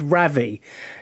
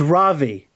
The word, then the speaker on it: Ravi: I said Ravi. It's Ravi. It's same. You know, it's a proper noun. You can pronounce it the way you want it.